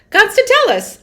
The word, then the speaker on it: Constantellis: Constantellis.